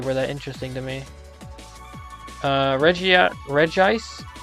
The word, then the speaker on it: Regice: Regice. I refuse to pronounce it Regice. It's because it's spelled Regice.